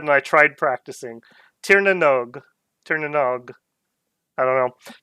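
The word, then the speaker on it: Tír na nÓg: their suggestion was that the NOG was pronounced like as in rogue, so Tirna Nog.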